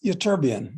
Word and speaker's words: ytterbium: How do you pronounce that one? Oh, that's ytterbium, YTTRIBUIM.